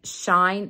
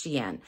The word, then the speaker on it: Shein: and even at xi'an a lot of people think it's spelled or sounds like shine but it's s-h-e-i-n and it's xi'an so anyway i'm going